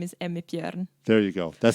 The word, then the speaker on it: Emmi Bjorn: been great so far awesome so the proper pronunciation of your name so my name is Amit yen there you go that sounds much better than